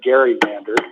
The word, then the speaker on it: gerrymandered: I'm not aware of any of them that gerrymandered, which is the correct pronunciation.